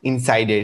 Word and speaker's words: Ensydr: platform provides interesting so i really like the spelling of insider so like it's not inside a ein site it's a en like you spell it for me yes yes it's e n s y d r dot com because of